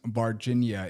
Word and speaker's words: Varginha: I thought you were saying Virginia, like the state Brazil. No, it's very close in spelling. Actually, it just sounds the same, but it's spelled way differently. But Varginha in January 20th, 1996.